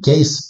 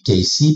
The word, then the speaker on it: Cayce: est ici voilà alors ça s'écrit caisse pour nous mais on dit que ici parce que le E se prononce i en anglais simplement donc ce soir on